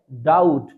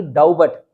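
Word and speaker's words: doubt: सीखते हैं बी टी अगर आपको बी टी मिलता है तभी भी लेटर साइलेट रहेगा जैसे डी ओ यू बी टी इसे क्या रीड करते हैं डाउट ना कि डाउबट ठीक है ये अगर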